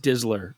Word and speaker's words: DSLR: It's pronounced Dizzler as well.